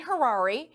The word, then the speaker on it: Harary: from beverly hills dan hirari his name sounds like rhymes with ferrari hi dan that's how